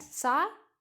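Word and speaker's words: sake: एस ए के ई इट्स अ Japanese word which is pronounced eight सा के के जापानीज ड्रिंक है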